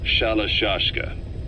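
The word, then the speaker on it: Shalashaska: Someone must have known about that, because somewhere along the line, Shashka got stuck on the end of Sharashka. The guerrillas were using the name amongst themselves. By the time I got to hearing about it, pronunciation had wound up as Shalashashka.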